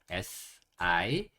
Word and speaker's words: sick: S-I-C-K sick 이라고 읽습니다. sick. S-S-E 크 sick 빨리 하면 sick sick 이렇게 되고요. 얘도 키읔 소리, 얘도 키읔 소리니까 그냥 키읔 소리는 한 번만 내도 돼요. sick sick 이렇게 하시면 돼요.